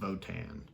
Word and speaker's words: Wotan: I keep forgetting it's actually pronounced Wotan.